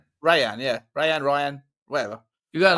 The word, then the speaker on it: Rayan: Rayan, yeah.